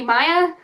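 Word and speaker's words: Maia: was reading the books, because Maya is spelled M-A-I-A, in my head I always pronounced it Maya. No, I always pronounced it Maya, but it's actually Maya. So that's why I keep saying Maya by accident, but it's Maya.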